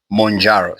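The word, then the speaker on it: Mounjaro: The other one is called monjaro pronounced as it's m o u n j a r or monjaro.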